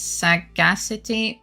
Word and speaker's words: sagacity: According to a dictionary, it's sagacity with accent on second syllable like with audacity.